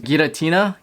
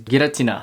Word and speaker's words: Giratina: trailer they show uh in English is pronounced gatina but in Japanese I I I read the in Japanese so now I can't get it out of my mind um but in Japanese the way how you pronounce it is gutina they just pronunciation tomato